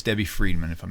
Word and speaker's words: Friedman: It's spelled like fried chicken, Fried, man, Friedman. Okay, and you're going to find the alphabet video.